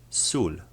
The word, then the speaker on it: sól: and it sounds like the O's in the word took. A confusing aspect about this letter and its pronunciation is that it is identical to the way the letter U is pronounced in Polish.